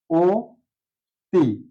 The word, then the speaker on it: অতি: ক্ষেত্রে ও হয়ে যায় আমরা একটা উদাহরণ নিতে পারি অতি অতি এখানে অ আছে তারপরে বর্ণটি আছে তর রসিকার সেক্ষেত্রে আমাদের এইটা উচ্চারণ হবে ও তি অর্থাৎ ধ্বনির উচ্চারণটা ও